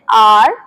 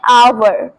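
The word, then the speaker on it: hour: Salt all right salt next घंटा जिसे बहुत सारे लोग बोलते हैं आर बट इसे सही तरीके से बोलते हैं आवर। आवर। ठीक है? सो आपको आर नहीं बोलना वो गलत हो जाएगा।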